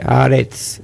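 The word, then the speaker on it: Haaretz: al medio, a, yo lo pronuncio así, arets, no sé cómo se pronuncia realmente.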